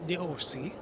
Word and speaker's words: d'Orsay: And at this point, we are here in a chilly day at the Musée d'Orsay, here in Paris.